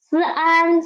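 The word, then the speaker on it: 三: In Chinese, the pronunciation is Sun.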